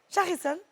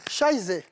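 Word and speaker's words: Scheiße: prononcer. Hein? L'enfant voulait faire popo. Hein? Et puis ça m'a dit, t'étais Charcine. Charcine. Non. Scheisse.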